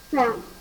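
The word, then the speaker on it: faim: Now the first word, how to pronounce it? Fan. Very good. Fa means end. Okay. Next word. Fan.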